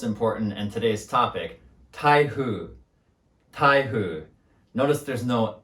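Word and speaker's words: 台風: with the most important and today's topic tahu taihu notice there's no n in thaihu if you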